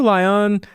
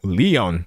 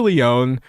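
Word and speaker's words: Lyonne: So, Natasha Lion, uh, oh, Leon, let me pronounce that correctly. Natasha Leon, comedian, actor, writer, very funny person, has recently gone pretty far into this AI production studio thing.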